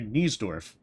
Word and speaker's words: Niesdorf: Oh, Niesdork. Okay, so then that's how you say it. Niesdork. Dr. Niesdorf. Wait a minute, do you mean Dr. Niesdorf?